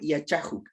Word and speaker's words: Yachajuk: Recordarles que simplemente cambiamos por Yachajuk. Esta acá que usted ve aquí la pronunciamos como una J. Yachajuk, ¿ya?